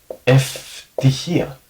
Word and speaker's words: ευτυχία: So, ευτυχία, that's the way you would pronounce it.